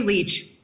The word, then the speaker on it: Leich: is leich and i apologize if i mispronounce that uh it's actually leech oh geez you